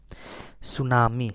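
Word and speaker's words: tsunami: सुनामी, सुनामी मतलब सुनामी, इसमें T silent होता है।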